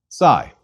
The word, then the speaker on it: Psi: we please repeat Chi Sai Sai is another double consonant equivalent to P s Sai is pronounced like the PS at the end of lips please repeat sigh and